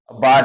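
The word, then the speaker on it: bought: बाट, बी ओ यू जी एच, बाट means खरीदा।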